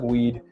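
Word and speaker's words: Wead: told his biographer Douglas weed yep pronounced like weed I steered clear of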